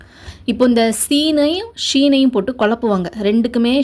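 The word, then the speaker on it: سين: C scene அப்படி இல்லன்னா குக்கர்ல இருந்து விசில் வரும்ல இல்லன்னா அந்த பாம்பு இந்த மாதிரி கத்துன்னு சொல்லுவாங்க சோ அந்த மாதிரி சவுண்ட்ஸ்லாம் ஞாபகம் வச்சுக்கங்க ஓகே சீன் ஓகே இந்த மாதிரி ஞாபகம் வச்சுக்கிருங்க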